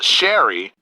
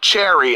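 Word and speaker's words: Cherri: believe is actually pronounced sherry okay so not cherry as in the fruit but you know sherry i believe i was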